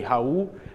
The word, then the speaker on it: Raul: hi everyone good morning my name is raal so this is the way that I pronounce my name in in English but in Portuguese say ha and Spanish you'll say like ra so but this presentation